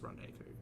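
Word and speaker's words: rendezvous: living o a secret a secret affair a Rendevous I know it's pronounced rendevu his own soil like a lust filled rendevu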